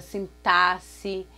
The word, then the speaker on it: sintaxe: Máximo, na palavra sintaxe, então também com X, e esse X com som de dois S.